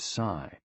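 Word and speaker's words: 呬: The 6 sounds are XU, pronounced like shh, with a deep sigh, which is associated with the liver. HE, pronounced like her, with a yawn, which is associated with the heart. SI, pronounced like sir, with a slow exhale, which is associated with the lungs.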